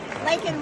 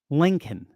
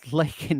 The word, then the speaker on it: Laken: He couldn't even say her name right. Lincoln. He called Laken Riley freaking Lincoln.